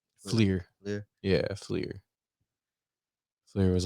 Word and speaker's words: Fleer: How you pronounce that name? Flair? Fleer.